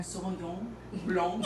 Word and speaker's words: Sauvignon Blanc: And it's Sauvignon Blanc 2016. And I've actually... The correct pronunciation. Yeah, tell me. Help me here. Sauvignon Blanc.